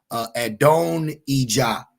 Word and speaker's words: Adonijah: I have trouble pronouncing his name. I know it's Hebrew is different, but Adonijah.